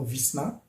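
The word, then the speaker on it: весна: De même que dans le mot Visna, le Y se prononce I, car le A est porteur de l'accent tonique.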